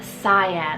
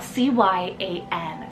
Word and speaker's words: Cyan: shorter four-letter name here and that's the name cyan spell c-y-a-n cyan with the nickname of Psy I'm very